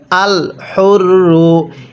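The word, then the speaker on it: الحر: আল হুররু, এই হাগুলো উচ্চারণ করার সময় মুখ দিয়ে হালকা বাতাস বের করব, তাহলেই এই হাটা সহি শুদ্ধ উচ্চারণ হবে।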